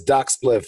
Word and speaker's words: Doc Spliph: My Instagram is Doc Spliph. It's real simple. DOC SPLIPH. Pretty much like how it's spelled now.